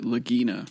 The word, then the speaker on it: Lagina: and Marty lagina lagina it's a vagina spelled with an L they pronounce it lagina O but I also think okay well I also think lagina for those of you